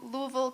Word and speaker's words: Louisville: um I went to Louisville Kentucky yes that is how you pronounce it to study spinal cord